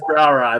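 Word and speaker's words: brouwerij: Belgian beers have that brow ride they start out with which is like b r o u w r i j i say to look up to pronounce it so so that know I know that's brow ey but any of those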